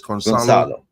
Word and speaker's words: Gonçalo: Madhouse is saying C is pronounced as an S in Portuguese, so it's Gonçalo.